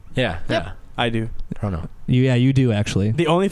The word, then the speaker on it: Toronto: that the whole world knows now, but Canadians don't pronounce the second T in Toronto. Yeah. Yeah. I do. Toronto. You do actually. The only thing You that do. I You don't. live there. You Toronto.